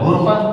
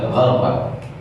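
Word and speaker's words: غَرفة: Syekh Abu Amr Ad-Dani membacanya illa man iqtarafa gharfatan biyadihi, dengan fathah bukan dengan dhamma. Jadi bukan dibaca ghurfah tetapi beliau membaca gharfah.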